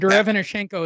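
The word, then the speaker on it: Derevyanchenko: Derevchenko.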